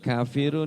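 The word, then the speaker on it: كافرون: Yang pertama huruf qo qof. Nah, kafirun itu bukan qo tapi ka sudah pasti. Jangan qofi, jangan. Tapi kafirun.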